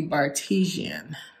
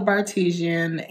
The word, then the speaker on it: Bartesian: Also, I looked up how to pronounce the name of my new amazing craft cocktails on demand, and it is called the Bartesian.